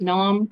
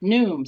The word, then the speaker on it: Noom: June 17th um with is it Nom is that how I pronounce it sorry is it Noom sorry with NuMe it's like broom so I should have